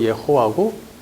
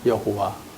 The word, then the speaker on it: 여호와: 예호와가 원어로 발음하면 예호와고 우리말로는 여호와가 되는 것이죠.